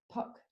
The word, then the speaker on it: Puck: That's Puck to rhyme with luck and muck, and he's got bucket loads of both.